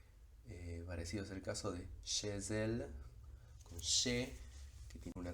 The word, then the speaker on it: chez elle: fenómeno de la liaison, toma sonido, tiene un sonido propio, y ese es el de la S, por lo que la pronunciación sería chez elle.